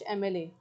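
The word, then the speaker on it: MLA: एम एल ए में एम की sound आ रही है।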